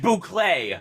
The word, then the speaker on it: Buckley: It's pronounced Bouclé. Bouclé's French.